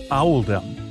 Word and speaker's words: Oldham: was made to reflect the pronunciation of Oldham in the local accent which is audem accordingly paying respects to